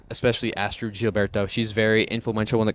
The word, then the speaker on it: Astrud Gilberto: I did look it up how to pronounce it. yep, but it's yep. the Astrud Gilberto. Gilberto.